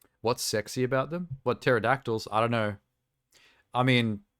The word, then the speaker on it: pterodactyl: answer me this ter maybe it's the silent P there's something sexy about the silent p and pterodactyl or is that just